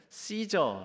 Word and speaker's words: 카이사르: 말이 다름 아기의 따라서 카이사르를 씨저 라고 발음 하기도 하고요 이 씨저 카이사르 라는 말이 성경에서는 발음이 가 이사라고 이렇게 발음을 해서 우리 한글 성경에는 기술이